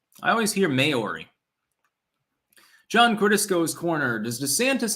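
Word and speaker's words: Māori: By the way, it's pronounced like Maori. Maori. I always hear Maori.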